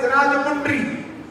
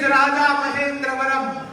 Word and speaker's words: Rajamahendravaram: pronounce in past, and they started pronouncing Raja Mahendravaram as Rajamundry. And we are also proud Englishmen calling Rajamundry, Rajamundry, Rajamundry. It is Raja Mahendravaram.